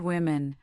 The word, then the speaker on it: women: Consider the word women. The O is pronounced as a short I. Why? The answer lies in a historical vowel shift that occurred centuries ago, permanently divorcing the pronunciation from the spelling.